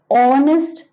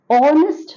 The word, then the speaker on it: honest: an right now an honest man an honest man honest here again H is a silent and H is silent